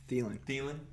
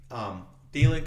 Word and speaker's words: Thielen: But the guy I really like out of Minnesota is Adam Thielen, or how do you say his name? Thielen.